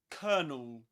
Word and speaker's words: colonel: internal and it rhymes with a word with this one kernel. You can pretend it's spelled like this kernel. But of course in British English before a consonant sound you don't pronounce the letter R. You don't say colonel. Colonel, but colonel at least in Luke Tsum's accent in southern standard British